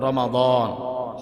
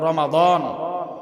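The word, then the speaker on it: رمضان: এজন্য আমরা শব্দটাকে সংশোধন করে সঠিক উচ্চারণ করব রমাদান।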